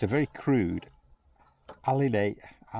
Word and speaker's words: alidade: I can pronounce this right. It's a compass pointer, but it's called, it's a very crude alidade, A-L-I-D-A-D-E.